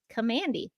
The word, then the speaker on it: Kamandi: get it confirmed that it is pronounced Kandy notand so we'll talk about